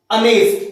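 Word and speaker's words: honest: देखिबा सपोज मु कहबी अनेस्ट तो एठी मध्य एच बी साइलेंट रहउची एठी किंतु बट a word कोन sound produce करूची अनेस्ट अ साउंड प्रोड्यूस करूची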